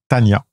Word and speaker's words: Tonia: Même si ça s'écrit Tonia, ça se prononce en fait Tania.